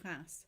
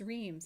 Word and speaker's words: Reims: swass Hall and the city of class pronounced as Reims in English considered a quiet sector